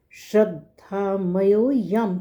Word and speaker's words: श्रद्धामयोऽयं: और आगे कहा है श्रद्धामयोऽयं पुरुषो। ये जो वर्ड है श्रद्धामय प्लस अयम पुरुषो, यह पुरुष। यहाँ पर एस साइलेंट है, ओ के बाद य की आवाज़ सीधी आएगी।